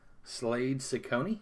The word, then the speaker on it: Slade Zacconi: slade zacconi is how you would pronounce that slade sakoni who would name their